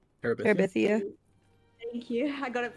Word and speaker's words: Terabithia: But I do need to start Bridge to never gonna pronounce right. Terabithia? Terabithia.